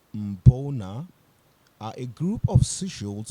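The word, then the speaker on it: Mbuna: Mbona, pronounced Mbona, are a group of seashells from Lake Malawi in Eastern Africa.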